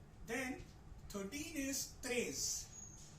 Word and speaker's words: treize: नाउ ई आई जब भी किसी वर्ड में फ्रेंच में आएगा, ई और आई, this will be pronounced as a, right? 1 2 3 4 वाला a। so this is treize।